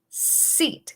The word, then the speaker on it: seat: Try saying sit, sit, como sentarse, and seat, seat, como silla.